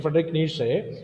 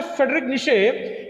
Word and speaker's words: Friedrich Nietzsche: was one of the, so it is our pronunciation, Friedrich Nietzsche. Okay, so the real German pronunciation is slightly different than that.